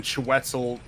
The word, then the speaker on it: Chiwetel: But then again, Chiwetel, that's how you say his name?